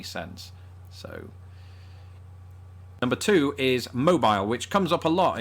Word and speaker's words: Mobile: there's a city spelled exactly the same way pronounced mobile and that is why this word makes my